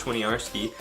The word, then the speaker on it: Winiarski: pronounce that last name it's Winnie like Winnie the Pooh are like a pirate saying argh - the good and then it's ski like you're like you're skiing I'm 19 years old